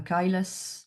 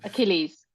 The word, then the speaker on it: Achilles: a a kyus heel of fibrosis. Sorry for my French accent. We say ail in French but Achilles.